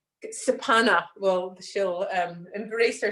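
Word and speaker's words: kshepana: So the mudra that you would use for Kali is called Sapana mudra, which is spelled, which is K-S-E-P-A-N-A. Sapana, but so it's a silent K.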